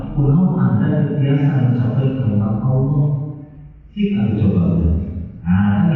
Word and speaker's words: Allah: lihat pelajaran berikutnya pelajaran ke13 adalah bacaan lafaz Allah atau Allahumma nah hati-hati pengucapan Allah jangan menggunakan pengucapan yang orang Sunda